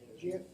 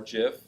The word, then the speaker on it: GIF: GIF. GIF is a second one, or GIF, pronounced both ways.